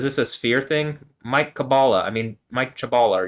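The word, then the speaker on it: Kabbalah: chabala but you know in Hebrew you'd pronounce that cabala cabala H so anyway okay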